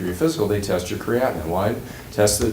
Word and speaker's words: creatinine: And they measure dilution on creatinine. Did I pronounce that right?